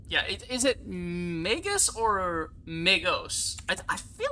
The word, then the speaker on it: Magos: this up pronounce yeah oh it is it's May ghosts or makeup okay pronounced May goes plural Magi oh wait